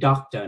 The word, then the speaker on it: doctor: phát âm là doctor, chữ D trong cái chữ doctor này khá mạnh, và chữ C thì hơi giống như là chữ K, do đó chúng ta nên phát âm cái chữ này khá rõ là doctor.